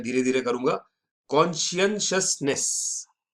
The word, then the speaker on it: Conscientiousness: तीसरा वाला है थोड़ा भारी है, इसलिए इसको प्रोनाउंस मैं धीरे धीरे करूंगा। कॉन्शियसनेस, कॉन्शियसनेस, ये थोड़ा सा ट्रिकी प्रोनाउंसिएशन इसका है।